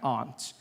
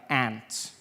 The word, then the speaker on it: aunt: For instance, I pronounce the opposites of uncle as aunt. I say my aunt. Out here you say my aunt. Which to me is an insect.